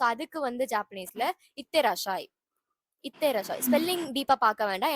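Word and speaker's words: いってらっしゃい: ஸோ அதுக்கு வந்து ஜாப்பனீஸ்ல இத்தேராஷாய்.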